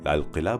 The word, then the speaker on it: لال قلعہ: طریقے سے کیا ہے۔ جہاں ہم نہرو اور اندرا گاندھی کو لال قلعہ بولتے ہوئے سنتے ہیں، قاف کی آواز کے ساتھ، وہیں باقی کے وزیر